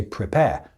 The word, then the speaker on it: prepare: So for example, I said prepare. I didn't pronounce the last R, so there's A-R-E on the end of that word, but we don't pronounce that in the UK. We just say prepare.